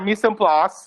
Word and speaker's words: mise en place: So this is called our mise en place, which is like another way of saying everything in its place. How do you pronounce it again, though?